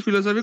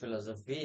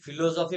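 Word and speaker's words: philosophy: Geography, history, ফিলোসফি, computer application. Geography, history, ফিলোসফি আর computer application. আচ্ছা, একটা জিনিস আমি রেকটিফাই করাই, হ্যাঁ? উচ্চারণটা আমরা যেটা ফিলোসফি বলি না, উচ্চারণটা ফিলোসফি হয় না, উচ্চারণটা হয় ফিলসফি।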